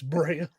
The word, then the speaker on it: Bria: It's spelled B R AI. It's Bria.